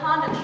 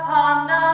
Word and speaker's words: panda: Let's do a little bit of the Panda chant. This is a Meredith Monk piece that we like to jokingly call a Panda chant because she wants the word panda to be pronounced Panda.